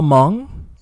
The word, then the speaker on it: Hmong: how do you spell hmong yeah because i forgot how to spell it sometimes i forget i don't think i don't think i ever told him h-m-o-n-g yeah yeah h is silent yeah utv he knows